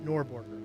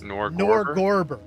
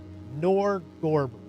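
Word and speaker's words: Norgorber: Uh uh nor how is it pronounced? It's not norborger. I keep trying to say Norborg, but it's not. It is Nerdberger. Nerdber. It is Nor Gorber. Nor Gorber.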